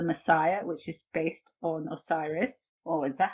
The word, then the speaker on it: Osiris: number six the messiah which is based on osiris oh is that how you pronounce it osiris yes okay good the male face of this